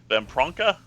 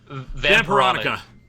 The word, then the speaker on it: Vampironica: Jughead, The Hunger versus How do you pronounce that? Vampronka? Vampironica.